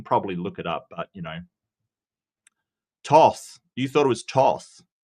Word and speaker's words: Thoth: I can probably look it up, but Toth.